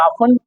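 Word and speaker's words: often: सी बात है कि टी एन ये टेन वर्ड लास्ट में आता है तो टी हमेशा साइलेंट रहेगा जिसकी वजह से इसको हम बोलते हैं आन आन का मतलब होता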